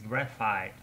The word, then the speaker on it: graphite: if i'm wrong so i learned the right pronunciation of the material which is which is made of is graphite non-graffiti graphite graphite uh so the only thing